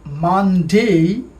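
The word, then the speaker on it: Monday: আগে আমরা বলতাম মানডে, বাট it should be মানডে। উচ্চারণটা ভালো করে খেয়াল করি, মানডে।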